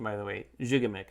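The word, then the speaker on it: Gigamic: you've ever played a jigamik is the correct pronunciation by the way jigamik not makes all these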